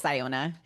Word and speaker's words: Siona: I listened to the audiobook and it's Siona.